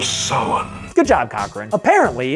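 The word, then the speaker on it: Samhain: traditions of halloween or as he correctly pronounces it the festival of summon good job cochrane apparently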